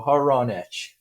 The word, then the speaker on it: Hronich: Yeah, I go by whatever you say, but how it's pronounced would be your friend Ron, and an itch. So Hronich.